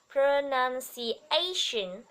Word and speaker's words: pronunciation: Two, two, have, have, clear, clear, pronunciation, chú ý là shin, not sin, ok? Shin, pronunciation, pronunciation, it's important to have clear pronunciation.